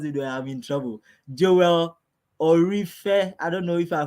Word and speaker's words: Ooreofe: teach you how to pronounce it now? Yes, Joel Ooreofe Ore, Ore.